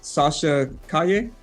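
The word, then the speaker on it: Sasha Calle: the actress name is sasha kaye i said that right he said it right sasha thank you thank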